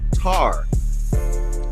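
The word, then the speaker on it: Ptah: Ta, P-T-A-H, is rightly pronounced Tar.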